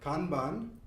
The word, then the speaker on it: Kanban: It's based on the Japanese word, which is pronounced more like Kanban, and it means visual signal.